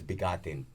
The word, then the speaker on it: Bigatin: No, you gotta pronounce that right. Bigatin, like almost like No, I know. Yeah. But you gotta say it like a Filipino, like bigatin.